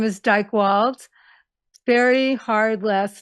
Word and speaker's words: Dychtwald: d y I know a lot of spell it I.E not me and the last name is Dyke wals very hard last name uh D like David